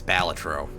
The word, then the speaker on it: Balatro: yeah all right also I technically pronounced it wrong again it's batro but uh listen I'm